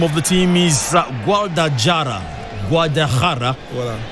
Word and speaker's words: Guadalajara: The name of the team is Guadalajara. Voilà. If you have to pronounce it like someone who is around the Hispanic or the Mexican area. Guadalajara.